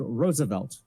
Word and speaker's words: Roosevelt: As for name, it is pronounced as if it was spelled Roosevelt. It has three syllables, and the first syllable as if it was rose.